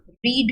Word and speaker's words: read: रीड की third form that is रेड, although आप spelling READ ही लिखते हो लेकिन बोलने में आपकी प्रोनाउंसिएशन में रीड को रेड पढ़ा जाता है, READ, that is रीड, रेड एंड रेड.